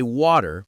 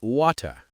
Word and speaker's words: water: You hear me say water, but on that show they say water.